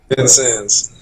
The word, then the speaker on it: Vincennes: started I can't even pronounce it is it vicenti's Vincent's how do you pronounce the Juco Vincennes so you won a national championship as a